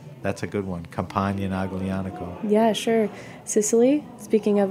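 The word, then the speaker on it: Aglianico: is the grape Alano is the grape it's pronounced agano l i a n c o and it's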